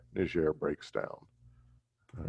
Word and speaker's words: Niger: colony and so uh the british would pronounce it nigeria the french would pronounce it close to niger so anyway uh just